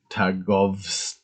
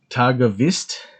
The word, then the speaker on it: Târgoviște: geopolitical map the geo map for um tagovs i'm gonna try and pronounce that these things these names better um